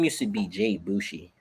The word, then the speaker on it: Boujii: And everyone would just say first they would call me Boujii when the name was Bushi.